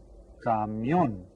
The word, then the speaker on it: camión: Camión. And you see, here's the accented syllable, camión. So get that written down.